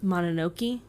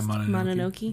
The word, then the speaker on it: Mononoke: And now, supposedly, that no-cuts policy was really thrown into sharp relief when Miramax suggested editing Princess Mononoke, I think is how it's pronounced. Yeah, Mononoke.